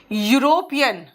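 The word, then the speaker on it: European: Orange, orange, N orange, eagle, an eagle, umbrella, an umbrella, यूरोपियन, अब यहां पे you sound आ रहा है, अ यूरोपियन हो गया।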